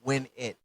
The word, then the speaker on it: Winette: Yes, I know some people pronounce it wet, but it's win it because my name is and you know rolling with me is a sure win.